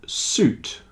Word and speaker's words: suit: have a silent U but fruit juice and suit the I is not pronounced fruit juice and suit